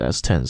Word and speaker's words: S10: to Eurovision thing a while ago, and she pronounced it S10, so why should I pronounce it S10 as everyone else was saying? My name is S10 and I'm representing the Netherlands.